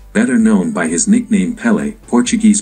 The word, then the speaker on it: Pelé: 29 December 2022, better known by his nickname Pelé, Portuguese pronunciation, Pelé, was a Brazilian professional footballer who played as a forward.